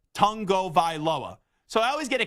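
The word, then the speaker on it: Tagovailoa: where someone asked him how do you correctly pronounce his name and he's like tongo vioa so I always get a kick whenever somebody is like why do you say tongo vioa because I'm like hey that's how you're supposed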